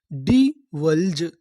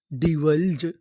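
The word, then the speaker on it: divulge: अगर आपको इंग्लिश की किसी भी मीनिंग के आखिरी में इ लिखा मिले तो हम लोग इ का उच्चारण नहीं करते।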